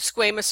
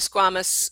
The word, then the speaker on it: squamous: Well, actually you have squamous or squamous. A lot of A&P words are pronounced accurately several ways because you do have people who have accents or non-accents. Squamous is equally as correct.